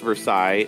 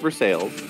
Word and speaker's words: Versailles: a we have a Versailles and it's not pronounced Versailles it's pronounced Versailles Mages there you go have some money Jeff